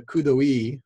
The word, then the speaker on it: coup d'oeil: And so his theory on the coup d'oeil, which is how you pronounce that, means in French, it means at a glance.